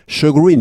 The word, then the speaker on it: shagreen: 나오는데 거의 쓰지 않습니다 거의 대부분 사람들이 shagreen 이렇게 두 번째 음절에 스트레스를 둡니다 the dem turn out